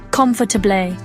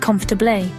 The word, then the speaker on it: comfortable: It's tempting to pronounce all 4 syllables clearly, comfortable, but native speakers often squish it to sound more like comfortable.